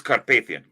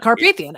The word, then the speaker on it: Carpathian: That's but like the Carpathian Mountains, it is Carpathian. It's not Carpathian. Okay. Yeah, that's actually how you pronounce that.